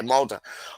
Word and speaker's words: Molde: Mulder. Okay, Molde.